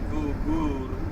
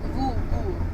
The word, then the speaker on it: Goore: я линзу не снял ребята больно А почему произносится Сан Сайлент во гор ГУР ГУР это правильно Да А я раньше сказала во